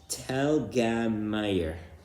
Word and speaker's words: Telgemeier: I think you don't need to put it in the comments because the correct pronunciation is Telgemeier.